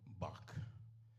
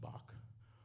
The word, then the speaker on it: Bach: And the song was entitled Bach as in John Sebastian Bach or Bach as in the island pronunciation for back.